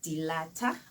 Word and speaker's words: Dilata: My surname is Dilata. Oh. I'm not certain how you pronounce it, but it is Dilata. Dilata, and I am from the Transkei, the